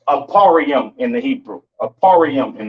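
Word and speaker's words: אפרים: Pronounce Aparium in the Hebrew, Aparium in the Hebrew, right?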